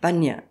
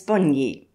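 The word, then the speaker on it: bonyi: the Pinar bid willly has been wrongly accepted and pronounced ba to the blacks it was Boni the I being sounded as an e in English Boni grandfather Andre Petry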